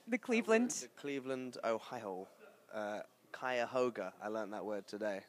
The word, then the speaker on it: Cuyahoga: Cuyahoga. I learned that word today. Very nice. Good pronunciation.